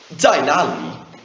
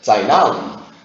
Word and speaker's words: 在哪里: This would be pronounced 在哪里？